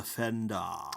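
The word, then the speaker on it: Fendahl: So firing up the random thing and the story shall be image of the Fendal.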